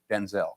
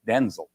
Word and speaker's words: Denzel: My name's not pronounced Denzel. My name's pronounced Denzel.